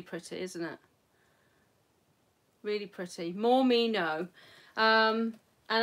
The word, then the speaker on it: Mormino: me no um and as i'm aware she's called more meno because people kept saying her name wrong and that basically tells you how to say her name and i actually said her name wrong as well i was going morning mornimo or something like that but mormino there we go um she's got a